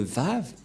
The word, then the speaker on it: vav: un lettre V et donc la prononciation du lettre vave en hébreu selon la prononciation de Abraham et Moché on le prononce V mais pas W ou ou comme avec